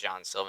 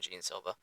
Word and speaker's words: Jean Silva: I think it's actually pronounced Jean Silva, not Jean Silva.